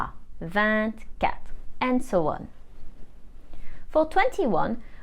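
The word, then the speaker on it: vingt-deux: or 3 for example the G is still silent but the T isn't silent anymore so we say vant cat and so on for 21 we literally translate 20 and 1.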